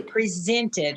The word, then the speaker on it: present: number three and they presented her something or gave her something uh this is a present uh with the accent on the first syllable um and that means